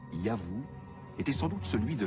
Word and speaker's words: YHW: Ce nom, qui devait se prononcer Yahvou, était sans doute celui de leur dieu protecteur.